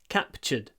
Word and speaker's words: captured: three soldiers were captured so pronunciation here we have a t which is a CH capured captured captured just say CH it's a CH they were captured uh